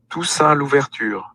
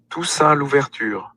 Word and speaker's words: Toussaint Louverture: This is the actual pronunciation. Toussaint Louverture. That's exactly. Toussaint Louverture.